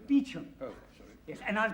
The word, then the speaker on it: Beauchamp: Beauchamp. Calling Mr. Beauchamp. Mr. Beauchamp has been employed by the following firm. It's pronounced Beecham.